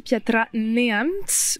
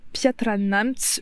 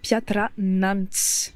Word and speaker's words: Piatra Neamț: en début de vidéo j'ai beaucoup dit piatra neamt au lieu de piatra neamt je pensais que ça